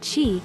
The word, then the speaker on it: chi: of minerals chemicals and energy known as chi pronounced chi and a network of channels or meridians this